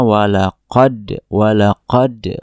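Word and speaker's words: ولقد: Jadi huruf dal dia tidak dikolkolahkan, tidak dipantulkan, walaupun memang pantulnya kecil, tapi tidak terdengar sedikit pun dia mengkolkolahkan huruf dal. Harusnya walaqad wassalna gitu ya, lahumul.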